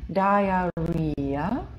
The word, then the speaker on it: diarrhea: Смотрите, как правильно читать. Diarrhea. Пожалуйста, повторите за мной. Diarrhea. То есть, кто думал, что это диарея? Нет, это буква I. Но все остальные написали rea, а оно читается diarrhea. Почему читается diarrhea? Потому что буковка I, предпоследняя буква этого слова, это буква «и». Она стоит в открытом слоге. После нее гласная.